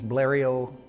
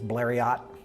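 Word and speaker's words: Blériot: on the planet there's multiple pronunciations the French pronunciation is Blair II Oh Americans frequently read it phonetically as Blair yacht bleary Oh malarial you'll hear it many ways plans arrived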